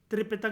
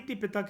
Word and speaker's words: त्रिपिटक: तो दोस्तों मैं तोतला नहीं हूँ, लेकिन दोनों भाषाओं में, मतलब दोनों स्पेलिंग के उसमें आप इसको यूज़ कर सकते हो, ती भी और त्रि भी, ठीक है। तो जो पाली तिपितक है या पाली त्रिपितक